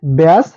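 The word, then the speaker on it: badge: ভুল উচ্চারণ করব যেটা সঠিক না এর সঠিক উচ্চারণ হচ্ছে ব্যাস জার্স এইচ এবং হেচকে আমরা যদি হেডস উচ্চারণ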